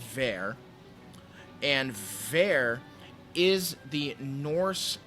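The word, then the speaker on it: Vor: and that is there it looks like voor but it's pronounced ver and there is the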